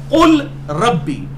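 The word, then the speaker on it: قل رب: ये वैसे है रबी लफ्ज है कुल रब्बी लेकिन यह र जो है इसके साथ डायरेक्ट कफ मिल जाएगा लाम बीच में साइलेंट हो जाएगा अरबी लिंग्विस्टिक के उसूल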